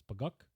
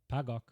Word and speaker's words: Baykok: oji other pronunciations and the first is bagok pagak bagok and bakak those are all spelled